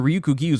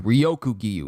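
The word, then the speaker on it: Ryokugyu: Rest in peace to Ryukyu Giyu's voice actor. Wait a minute, he passed? Ryukyu Giyu's voice actor passed? Hold on. I've been saying his name wrong too. Ryoku Giyu, not Ryukyu.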